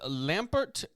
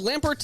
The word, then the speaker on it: Lambert: Formosus controversially crowned Lampert of Spoleto as co-ruler of the Holy Rome.